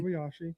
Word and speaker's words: Kobayashi: Kobayashi.